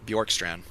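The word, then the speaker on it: Bjorkstrand: Vader saying Bjorkstand isn't even Is that how you say his name? Borkstrand. Yeah, Bjork. Borkstrand.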